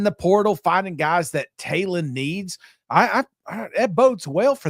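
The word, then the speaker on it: Taylen: It's Talon.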